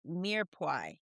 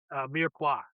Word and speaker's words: Mirepoix: Let's talk about your podcast, Mirepoix. Mirepoix. Did I say it right? Mirepoix. It's French. Mirepoix.